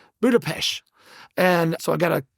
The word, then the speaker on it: Budapest: is the the ST is actually pronounced sh. So it's Budapesh. Budapesh.